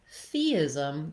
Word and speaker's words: theism: In theism, the stress is here on this first syllable, the. So it's going to be long and it's going to have that clear vowel. And then the ism syllables are going to be shorter and have reduced vowels. So we have the I sound, like in sit or is.